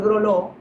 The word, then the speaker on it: Gralleau: a hacer una digresión, que Groló, como tal, como te lo deletrea la persona, es estrictamente literal, Grlo, y lo que conocemos por Groló es un apellido francés que precisamente se escribe Gralleau. Así que el Leau es lo que significa lo para nosotros.